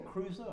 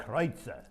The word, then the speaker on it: Kreutzer: I've always called it Kreutzer Lane, but is it Kreutzer or Cruiser? How do you say it? Well, now, if you're American, you call it Cruiser Lane. Cruiser Lane, But okay. it's Kreutzer.